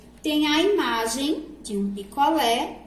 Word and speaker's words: picolé: Então, acento agudo na vogal E causa esse som aberto.